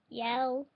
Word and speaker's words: Yale: Yale. Yale. Miss Rothman. Ya. L. It's pronounced like it looks. Ya. L. It's that simple.